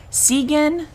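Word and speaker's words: Cygan: a man named john segan i guess it's how i pronounce i don't know it's sy sy see there it is what the heck um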